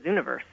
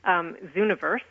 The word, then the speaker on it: Zooniverse: Zooniverse, so it's Z-O-O. Hold on a second. I just actually have to make sure I have this right. It's like universe, but it has zoo.